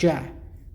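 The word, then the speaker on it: ج: But when we go to jim, we have the sound ja, which is equivalent to a J, such as jack.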